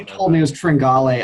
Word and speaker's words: Tringale: You told me it was Tringale.